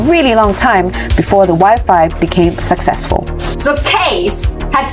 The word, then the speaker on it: Wi-Fi: It rhymes with high-five! High-five, Wi-Fi!